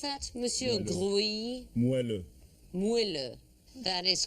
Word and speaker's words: moelleux: Can you pronounce that, Monsieur Grouilly? Moelleux.